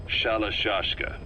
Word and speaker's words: Shalashashka: The guerrillas were using the name amongst themselves, and by the time I got to hearing about it, pronunciation had wound up as Shalashashka.